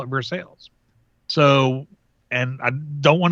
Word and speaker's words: Versailles: called I mean the the French pronunciation is Versailles and I have something